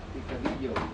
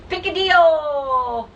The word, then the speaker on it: Picadillo: Picadillo. Picadillo! No, it's my chow time shirt. It's hot, so I put it up. I made it fun. Okay. Picadillo, that's it. Picadillo.